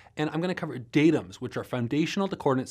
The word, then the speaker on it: datums: First, for those of you who get distracted by poor grammar, it is pronounced datums, not data in this case.